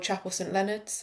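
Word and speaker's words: Chapel St Leonards: It's basically where you ride from a place called Alfreton to a place called Chapel St Leonard's.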